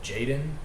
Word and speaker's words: jxdn: the first one is uh jaden i think it's how you pronounce it now it's spelled jxdn and his music was